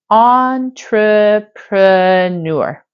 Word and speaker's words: entrepreneur: today is the word entrepreneur this word can be challenging for English language Learners because it's actually a French word that is used in English once you recognize that